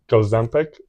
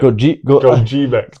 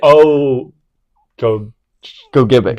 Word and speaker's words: Gogebic: We've got a super awesome interview coming up with Gozempic. Is that how you say it? Gogebic. Gogebic. Oh, Gogebic. Gogebic. Yep. Yeah. I said it wrong the first time and they corrected me.